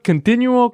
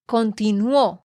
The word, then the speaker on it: continuó: muy bien nate pero te quiero corregir la pronunciación aquí en dos partes citas tienes que decir Bolívar continuó continuó Porque tú dijiste continuo es Bolívar continuó con